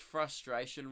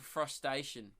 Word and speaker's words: frustration: from like a 15-yarder I just pronounced frustration wrong I just said for frustation like crustacean did I pronounce everything